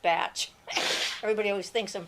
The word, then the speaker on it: Bach: Just because it's spelled like the German Bach doesn't mean it's pronounced that way.